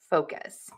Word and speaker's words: focus: Long vowel in the O, fo. So you want to really move your mouth and you want to make that vowel long. And you want to make sure that you stress that syllable.